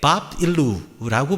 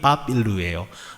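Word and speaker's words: Bab-ilu: 아카드 어에서 나온 말인데 밥 일루라고 말합니다 바벨론의 원래 발음이 밥 일루예요 밥일루라고 하는 말은 무슨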